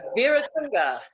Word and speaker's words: Weeratunga: So Jann, okay, it's pronounced Weeratunga.